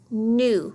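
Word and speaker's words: gnu: This word is new. Remember, when we have a GN, you do not hear the G, just the N.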